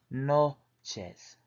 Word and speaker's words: noches: Buenas noches, pronounced buenas noches, which means good night.